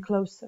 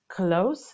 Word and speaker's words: close: These feelings are also most powerful between close relatives. Close relatives. Okay, be careful with the pronunciation of the word close, because there is also a word close. Okay, so this is not close, this is close.